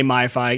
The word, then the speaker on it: MFi: I'm just going to say MiFi, even though there's not an extra I, but the MFI program, which is made for iPhone, iPad, or whatever I.